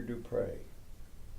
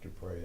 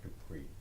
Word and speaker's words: Du Pré: small r-e, and pronounced Dupré and not Dupree. It's just a personal thing, but a lot of people use say Dupree, and that's not. It's Dupré with an accent on the E.